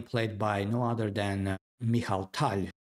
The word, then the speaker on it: Mikhail Tal: And we are following the game played by no other than Michal Tal, which is the right pronunciation of the player's name, versus Viktor Korchnoi.